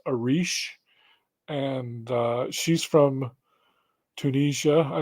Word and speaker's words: Eryj: Her name is spelled Eryj. It's pronounced Arish.